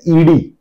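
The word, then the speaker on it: ਈੜੀ: ईड़ी, इसका उच्चारण ई होता है।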